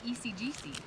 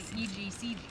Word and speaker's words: EGCG: actually matcha too so it's got ecgc actually egcg I say it wrong but I like to say it wrong ECG it sounds better it is kind of